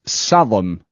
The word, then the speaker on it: Salm: So, that is Salom, which is the GA word for Salom. Yeah, Salom. So, it's a GA word for Sam. Like a biblical psalm that you would sing in a church.